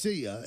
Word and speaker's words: CIAH: It's pronounced Sia. It's spelled CIAH.